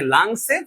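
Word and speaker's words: lungs: এই জন্য ওই রোগ হলে আমরা যখন বলি যে লাংসে, ফুসফুসে পানি জমেছে, সেক্ষেত্রে হচ্ছে আমি লাঞ্চ বলবো না, লাঞ্চে পানি জমে নাই, লাংসে পানি জমছে।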